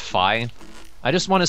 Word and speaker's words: Fi: some comments that uh apparently it's not pronounced fee it's pronounced fi I just want to